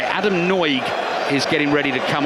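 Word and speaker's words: Nagy: one player across the front there right Adam noig is getting ready to come on surname spelled n a y I can assure you it's pronounced noig former Bristol City midfielder normally a key man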